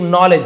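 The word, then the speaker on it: knowledge: तो यहां पे के और डी साइलेंस है। साइलेंट लेटर कहा जाता है। इसे इसे नहीं पढ़ना है।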